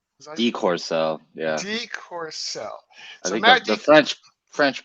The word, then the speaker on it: deCourcelle: how's it going so how do I pronounce your last name Decor cell Decor cell yeah the French French pronounce the